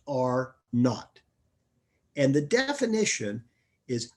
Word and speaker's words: R naught: contagiousness is r naught it's a capital r with a subscript zero but it's pronounced are not and the definition is